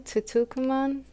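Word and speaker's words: Tutankhamun: King Tutukuman, that's how you say it.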